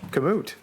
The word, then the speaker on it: Komoot: Komoot.